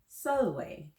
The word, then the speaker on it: Sulwe: next here we go today's story is called sell away and everyone pronounce that solloway very good this story